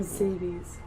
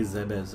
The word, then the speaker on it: Zebes: Yeah, so there's like different camps on how to say it. Some people even say Zebes or something like that. Well, Zabies sounds like scabies, so I'm like, I don't want to pronounce it like that.